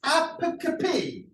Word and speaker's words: apocope: Yeah, so it's not apocope, it's apocope. Apocope.